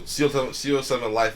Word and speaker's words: CO7LYFE: So CO7 Life is the shoe. It's spelled CO7LYFE.